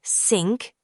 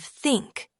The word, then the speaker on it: think: Many learners say sink instead of think, or tanks instead of thanks.